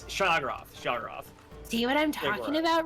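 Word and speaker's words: Sheogorath: Is that if how I it's needed pronounced? someone to say stuff about Elder Scrolls, I would be alive. Yeah, it's Shagorath.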